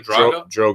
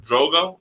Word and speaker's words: Drogon: Drogo? Drogon.